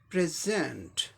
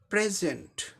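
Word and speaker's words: present: हम ले रहे हैं, इसीलिए सेकंड सिलेबल पे स्ट्रेस है, इसका उच्चारण क्या हो जाएगा? प्रेजेंट। प्रेजेंट उपहार देना या प्रस्तुत करना कोई चीज़ को, ये वर्ब हो गया। अगर ये नाउन होता तो स्ट्रेस कहाँ होता? पहले सिलेबल पे आता है, तब इसका उच्चारण क्या होता? प्रेजेंट।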